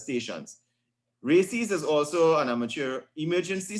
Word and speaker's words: RACES: would have been responded the other one is called races radio amateur civil emergency service pronounced races so the first one